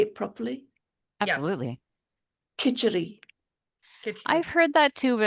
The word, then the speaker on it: Khichdi: Khichdi.